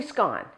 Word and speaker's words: scone: because I say a scone, and they just kind of look at me. How you pronounce it depends on what country, and even within the country, what region.